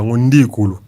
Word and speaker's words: Ndiku: Dans le Congo, par exemple, on va prononcer Ndiku. Donc, ce qui a fallu le bango bien Ndiku Luyana.